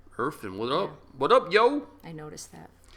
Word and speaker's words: Irfan: Irfan? You think I'm saying it wrong? No, you're saying it correctly.